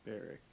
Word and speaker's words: Barrick: if he can find Baroque. Is that how we said we were going to pronounce his name? Or Barrick, or an Axis dwarf name? I think it was Barrick.